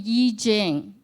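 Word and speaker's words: I Ching: gift and it's called the Y Jing some of you may be familiar with a Ching so it's spelled I and Ching c h i n g which is a Oracle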